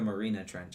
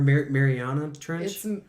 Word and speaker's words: Mariana Trench: trench or like the Marina Trench, I guess. And then like they go through this water tornado. Or Mariana Trench. Right? He said it right. You're Marina? No, it's the Mariana Trench.